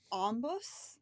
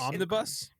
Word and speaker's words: omnibus: that it's called an ombbus I think. I cannot say it right. Omnibus. It kind of sounds like on a bus I think.